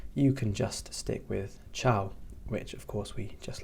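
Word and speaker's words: ċaw: Ciao. Ciao. Ciao. And this means bye. And you may notice that that sounds exactly like the way Italian people say goodbye.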